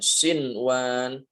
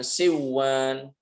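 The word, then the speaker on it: صنوان: Jadi membacanya kayak tadi yang benar ditampakkan nunnya sinwan bukan siwan. Kemudian qinwan bukan qiwan kemudian addunya bukan adduy. Bunyan bukan buya.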